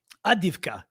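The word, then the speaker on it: Авдіївка: Somebody's asking for the map, but again, it's Avdiivka. Avdiivka, but it's spelled Avdiivka.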